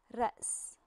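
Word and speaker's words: رأس: But with hamza, it is pronounced. R. Do you hear this? It's kind of like you are separating the word into two parts. You make a stop and then pronounce the um the second part of the word.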